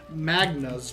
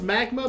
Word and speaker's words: Magna: In this case, it's going to be the Magna's buff, blessing buff. I'm not exactly sure how to pronounce it. I thought it was Magma, but no, it's actually Magna, who is...